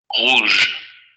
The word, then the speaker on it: rouge: También un poco un detalle que podría uno notar es que aquí al final aparece una vocal. Es una vocal debilitada que sería el fonema schwa, nada más que el fonema schwa del francés, pero debilitada. Por eso no dicen rouge, dicen rouge, rouge, rouge, rouge.